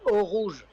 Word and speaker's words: Eau Rouge: Eau Rouge. Is that good? Yeah, Eau Rouge.